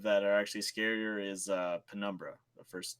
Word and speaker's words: Penumbra: are actually scarier is Penumbra, the first 2. Pinocchio? Yeah, Pinocchio, The Dark Descent. Isn't it just Numbra? No, it's Penumbra.